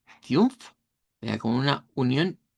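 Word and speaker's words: fünf: Vea, coneriular, que es el número cinco debe sonar como fiumf. Fiumf, vea como una unión u de i u.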